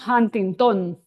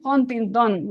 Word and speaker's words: Huntington: And then intención rhymes with Huntington. How do you make it rhyme? So, intención de conocer Huntington. So that's how I got that it's pronounced Huntington.